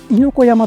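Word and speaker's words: 猪子山: 猪子山と読むそうですね。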